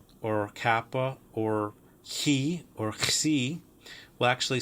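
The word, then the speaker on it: ξι: Xi is kind of a KS sound.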